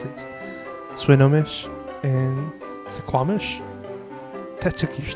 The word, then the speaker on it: Swinomish: Swinomish was right. How do people mispronounce that?